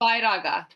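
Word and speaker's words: Vairagya: How do you pronounce it for me correctly? Vairaga.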